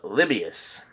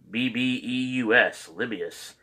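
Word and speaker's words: Lebbeus: jude thaddeus and uh libyus l-e-b-b-e-u-s libius i think that's how you pronounce it but uh we try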